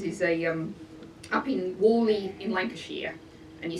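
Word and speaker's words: Whalley: examples of these is a um up in Wally in Lancashire and you spell that w-h-a-l-e-y that the locals trained me very hard until I can get the bowel exactly right so it's pronounced wooly and they're putting an Archimedes screw beside the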